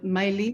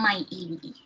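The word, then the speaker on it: MAIIAM: The Maili Museum, is that how you say it? It's called Mai Ili.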